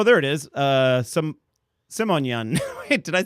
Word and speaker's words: Simonian: uh oh there it is uh some simonyan wait did I say help me out here how do you say your last name uh simonian simonian you know I wrote it down thinking